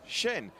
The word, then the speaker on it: Shen: has just said that julian shen is pronounced shen and i'll be going hacienne